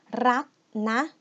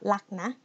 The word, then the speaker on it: รักนะ: And the last one, rak na, or lak na, to sound more natural. Like I already mentioned earlier that we don't like to pronounce r like that. So we just pronounce ro rua or r as le lo ling, okay?